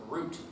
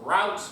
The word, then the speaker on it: route: directly from what is called the route or root. But I prefer the pronunciation route because then people don't think I'm talking about trees.